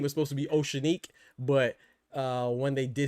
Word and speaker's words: O'Shaquie: Remember, hey, Southwest, it's not Osha Key. It's uh it's not Oshiki or Oshaki. It's uh Oceanique, right?